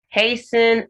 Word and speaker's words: hasten: it thus the thus hasten and fasten the t is silent in s-t-e-n then castle you have